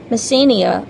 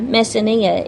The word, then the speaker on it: Messenia: neighboring city state a place called Messenia or mess ania either pronunciation is correct Messenia was a neighboring